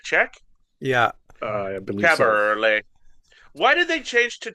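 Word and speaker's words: Kaberle: And I know how to pronounce his name properly. Caberlet. Caberlet. Of all the what is he, a Czech? Yeah. I believe so. Caberlet.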